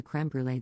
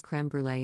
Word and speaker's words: crème brûlée: a comment about the crème brûlée they had, and I pronounce it in French. Because it's a French word. And I'm French. And Sorrel interrupts and goes crème brûlée in a really exaggerated